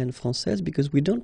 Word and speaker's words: française: And then when you put this final E here, you will get française.